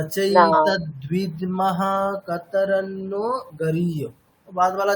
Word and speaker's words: कतरन्नो: चेत द्विद्वम कतरनो गरियो वहाँ पर न एक नहीं है दो न है ठीक है वो है तो कैसे होगा कतरनो कतरन्नो आप कतरनो जैसा प्रोनाउंस कर रहे हैं रॉन्ग हो रहा है ऊपर बस एक ही